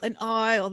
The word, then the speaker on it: aisle: excuse me, an aisle. The S is silent.